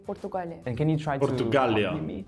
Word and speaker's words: Portugal: When we say our country we say Portugal. We say Portugal.